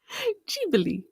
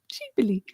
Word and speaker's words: Ghibli: Ghibli. I gotta keep practicing that. Studio Ghibli. That sounds so much cuter, actually. Ghibli.